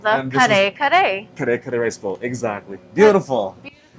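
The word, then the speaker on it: kare-kare: And this is called the kare kare. Kare kare rice bowl. Exactly. Beautiful. That's beautiful. You got the... I think I said it right. You rolled those R's really well.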